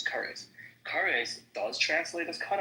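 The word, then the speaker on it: כרת: The only thing that's close to it is what karet, or what I pronounce as kares.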